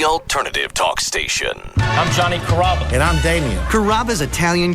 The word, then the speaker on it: Carrabba: People chop it up pretty good. You know, Carrabba, Carababa, Caramba. It's a really easy name to pronounce. It's Carrabba. Come to Carrabba's for dinner.